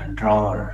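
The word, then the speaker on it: drawer: तो आज से इसको सही उच्चारण करना, ड्रॉर।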